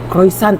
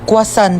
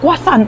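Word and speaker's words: croissant: Croyant daw. Croisant? Ah quasant po. Ay croisant. Kwasan.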